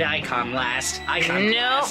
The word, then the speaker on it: iconoclast: Oh, the tangled tribulations of the committed iconoclast. I knew you were gonna fuck that up. Iconoclast. There you go, that's it. Pronounce all the syllables.